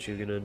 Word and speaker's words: Shugenin: We got for the HQ the Dragon-Blooded Shugenin Lord. Is that how you say it? Shugenin?